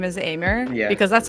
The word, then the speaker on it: Aimer: now I I recently found out the correct pronunciation of her name Amy it's Emmy oh no no no no die-hard fans everyone no I know I I used to pronounce her and her name is aimer yeah because that's how it's spelled right here